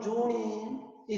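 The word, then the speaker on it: 町人: 그런데 이걸 이제 일본 발음으로 하면 조닌이 되는 거예요.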